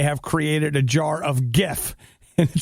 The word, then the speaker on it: GIF: created a jar of GIF. And it says Jif, creamy peanut butter, GIF, animated looping images. That's it. Hard G pronunciation.